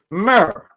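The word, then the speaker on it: mr: It's pronounced mer.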